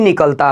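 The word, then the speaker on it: knock: example है याद रखिएगा नोक पढ़ेंगे क्या पढ़ेंगे नो पढ़ेंगे क्योंकि इन सी पहले आया हुआ ये की बिल्कुल आवाज़ नहीं निकलेगा याद रखिएगा ये साइलेंट होता है क्या है एन से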